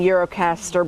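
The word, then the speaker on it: Gjirokastër: We're saying Eurocaster, but it's spelled with a G.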